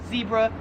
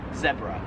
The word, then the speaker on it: zebra: I would pronounce this, Americans would pronounce this as zebra. However, in Australia they pronounce it zebra.